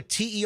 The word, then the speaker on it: Terry: Are you a Terry or a Terri? It's Terry to rhyme with Sherry because I have a twin sister Sherry.